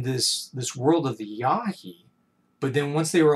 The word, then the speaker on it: Yahi: ishii who was the last member of the yahi tribe that's spelled y a h i who just simply